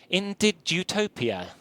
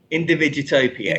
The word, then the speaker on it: Individutopia: It's called let's get this pronounced right. Individutopia. Individutopia. Individutopia.